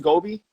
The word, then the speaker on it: Gobi: First of all, I do want to ask, I want to just make sure, is it pronounced Gobi?